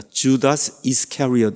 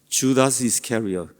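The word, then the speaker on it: Judas Iscariot: 참 이게 발음하기가 어렵죠 영어로는 반대로 읽습니다 주다스 이스캐리엇 이렇게 읽어요 주다스 이스캐리엇 이렇게 읽으면 이스캐리엇이 성이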